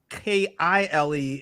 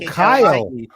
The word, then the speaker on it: Klie: I was saying, for some reason I saw Len's name as Kile and not Kyle.